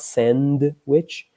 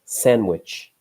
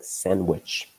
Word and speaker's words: sandwich: Notice that with sandwich, we don't really pronounce the D, okay? So it's not sandwich, but sandwich. Very quick, sandwich.